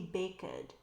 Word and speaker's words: baked: And every time you have a base form word that ends in k, you know the pronunciation is going to end in the t sound.